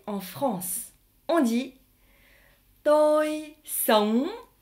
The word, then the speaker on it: sống: Le G ne se prononce pas réellement en vietnamien lorsqu'il est dans ONG.